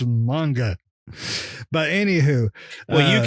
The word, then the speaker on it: manga: you're right it's and it's pronounced manga not to be that guy but it is it's it's you're reading manga the entire time it's pronounced you can eat my ass it's manga it's manga but anywh who well